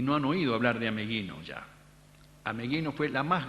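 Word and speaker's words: Ameghino: mundo lo que fue ameguino en su época y hasta la época de nuestra juventud decir a meguino era sacarse el sombrero hoy algunos lo pronuncian a mejino a mellino Se ha perdido hasta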